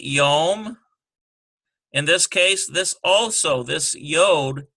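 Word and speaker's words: יום: Here we have number 2, we have a yod and a holem, yo, and ends with a mem sufi, yom.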